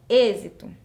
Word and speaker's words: êxito: fechada a outra palavra êxito Eu não falo êxito não é um som aberto Então são fechado eu uso acento circunflexo êxito tenho aí o